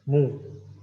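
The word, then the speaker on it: 木: That is mu, tree. And next one, this is the same pronunciation, mu, but different meaning.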